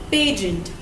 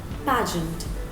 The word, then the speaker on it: pageant: is I have heard a lot of people pronounce pageant as pagent so I have issues with that so it's not pagent please it's pageant okay I know I sound like Hermione Granger